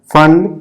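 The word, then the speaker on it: Pfund: के बाद होता है फैन पीस साइलेंट होता है ठीक है क्या हो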